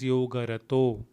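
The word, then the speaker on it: योगरतो: It is actually yogarata, but because of the following word, it becomes yogarato.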